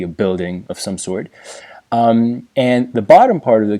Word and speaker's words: 安: So the character is pronounced an, it means peace.